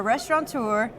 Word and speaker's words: restaurateur: He's a former football player, a sports commentator, a speaker, a restaurateur. Is that how you pronounce it? Restaurateur is correct.